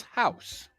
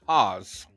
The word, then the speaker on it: Haus: Vanessa pronounced it as house okay it's Haus is actually German and it's pronounced Haws oh okay Hawes not